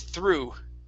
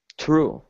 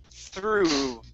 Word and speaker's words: through: Right here, instead of through, the G-H does not make a sound. This word is through. True. Okay, give me a good T-H instead of true with a T. It's through.